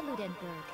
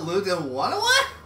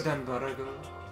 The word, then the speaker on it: Ludenberg: I am Ludenberg. The ultimate gambler. Ludenwana? No, it's not that hard, Makoto. For Japanese pronunciation, it could be, possibly. Yeah, I guess. Because let's see. Ludenberg.